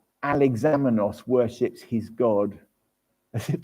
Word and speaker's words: Alexamenos: It's called the Alexamenos graffiti, and it's spelt how it sounds, Alexamenos, and it was found